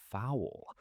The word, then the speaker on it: foul: A foul? I remember being confused because foul sounds exactly like the bird, a chicken. But it is spelled differently, right?